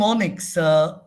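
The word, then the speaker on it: mnemonics: are systems called ponics m is silent MN NE n monics o n m whatever pneumonics now this thing pneumonics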